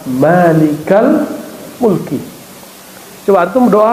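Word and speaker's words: مَالِكَ الْمُلْكِ: Kalau kata-katanya sudah bentuk idhofah, mudhofun ilaih, ya frase barangkali dua kata, maka tidak dibaca malikul mulki, bacanya ya malikal mulki.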